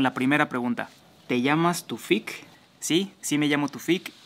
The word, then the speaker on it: Tufik: como dato curioso que en el original árabe no se dice tufik se dice taufic ésta es la pronunciación original así es como se